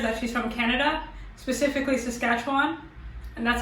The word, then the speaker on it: Saskatchewan: So the only thing we know about her is that she's from Canada, specifically Saskatchewan, and that's how you pronounce it.